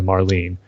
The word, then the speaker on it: Marlene: Harley as performance as Marlene and the name Marlene rhymes with Harleen yeah I agree with